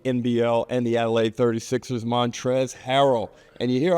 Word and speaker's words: Montrezl: uh, people seeing that, they always think they got to pronounce every letter in my name, though. Um, and then when I correct them and tell them it's Montre and, you know, then